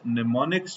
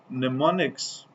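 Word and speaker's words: mnemonics: तो हम इसकी डिस्क्रिप्शन में ये भी लिखते हैं कि इट यूजज़ निमोनिक्स। यह एम जो है बच्चों आपके पास याद रखिएगा साइलेंट होता है।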